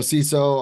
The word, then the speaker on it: CISO: So a CISO obviously is a Chief Information Security Officer. We pronounce it CISO. Other people pronounce that acronym in other ways.